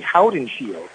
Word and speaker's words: Hottenshield: And it was kind of funny because he paused for a moment and he said, it's actually Hottenshield.